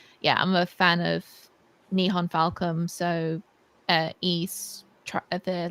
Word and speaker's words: Nihon Falcom: rewarded nice very nice niha how do you pronounce the nihon falcon nihon falcom and that's the developer um it's published in